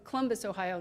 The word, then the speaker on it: Columbus: I come from Columbus, Ohio, not Columbus, Ohio, Columbus, Ohio, right?